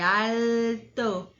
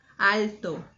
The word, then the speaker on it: alto: Lembrando que o O no final não vai ser alto, como no português. É alto. Alto. É o movimento aí que a gente faz com a língua. Alto.